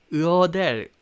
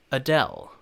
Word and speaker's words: Adele: 그래서 약간 아델이 아니라 사실은 어델, 어델 이런 느낌이거든요. 그래서 대를 좀 붙여서 발음한다는 느낌으로 Adele, Adele 이렇게 발음하시면 되겠습니다.